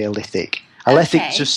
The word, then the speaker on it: Alethic: And you do a specific type of coaching called Alethic Coaching. Did I say it right? Well, some people say Alethic, some people say Alethic. I tend to say Alethic because I'm a northerner.